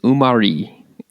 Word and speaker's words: Umarí: So the name of the tree and the fruit is Umarí, and that's spelled Umari.